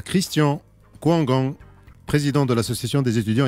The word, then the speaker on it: Kwongang: Déjà, moi, c'est Christian Kouanga. Oui. Déjà, je vous félicite d'avoir bien prononcé mon nom, ça c'est rare.